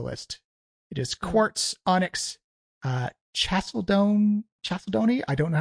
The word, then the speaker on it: chalcedony: It is quartz, onyx, chalcedony. I don't know how to pronounce that word.